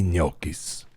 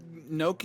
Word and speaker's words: gnocchi: That's right, cheesy gnocchi. Let me tell you. There's a G in the front of it. That's right, little G. Do you pronounce the G? Not really, no.